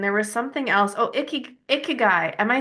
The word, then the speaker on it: ikigai: Oh, ikigai.